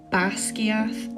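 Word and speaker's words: Basgiath: wants it pronounced but it's actually two Scottish Gaelic words bass and skia bass means death and skier means Wing so you can see how it makes sense to have a dragon college called Deathwing unfortunately if you don't put the accent on the a in bass it doesn't mean death it means Pam as in the palm of your hand so instead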